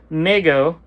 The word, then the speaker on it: Mego: MIGO pronounced Mego Corp was started by